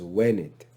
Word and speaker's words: venit: there's only one difference the pronunciation of venit as when it verse 8 looks so